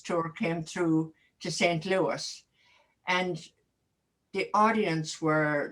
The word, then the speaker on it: Louis: No, it's just, I constantly hear people from America pronouncing Prince Louis's name in England as Prince Louis. And I keep saying, and I'm shouting at the television and I'm saying it's Louis because that's the way they pronounce it as well.